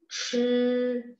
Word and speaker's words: 吃: Chi, nada satu. CHI, bacanya chi.